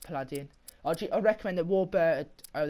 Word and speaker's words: Paladin: Pronounced Paladin.